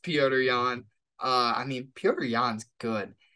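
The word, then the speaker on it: Petr Yan: love it number two as my boy sean o'malley would say peter yawn or as it's supposed to be pronounced peorian uh i mean peorian's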